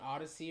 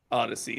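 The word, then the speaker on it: Odysee: yeah kind of thing he's like only on Odyssey or whatever it is which is owned by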